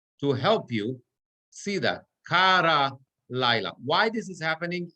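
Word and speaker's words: קָרָא לָיְלָה: But the point is that the accent changes here, and instead of kara, we're going to say kara laila, vayi erev, vayi voker, yom echad.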